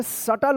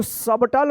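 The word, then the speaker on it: subtle: सटल पढ़ेंगे। सटल। इसको सबटल मत पढ़िएगा। सटल। क्या पढ़ेंगे? एस यू बी टी एल ई शटल B silent रहेगा।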